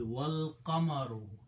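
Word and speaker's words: وَالْقَمَرُ: The moon, and then you put a waw means and don't pronounce this alif, so it will be wal qamaru, and the moon is making sajda.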